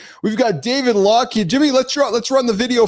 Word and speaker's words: Laughead: I got to ask you, how's the last name pronounced, brother? Yeah, it's Laughead.